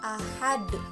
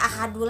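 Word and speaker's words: أحد: ya, contohnya qul huwallahu ahad. Nah, dalam surat Al-Ikhlas ini, Qul huwallahu ahad, kan asalnya ahadu. Karena diwakofkan, jadi dibacanya ahad. Ahad. Bukan dibacanya ahadu lagi, tetapi dibacanya diwakofkan ahad karena di akhir kalimat.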